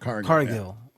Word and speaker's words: Cargill: Is that how you pronounce it? Cargill. Yeah. My bad.